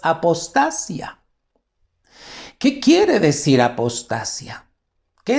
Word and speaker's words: apostasía: Esta palabra apostasía ya está en el griego. Nada más que nosotros la leemos apostasía con acento en la I, pero ¿qué crees? En el griego es apostasia.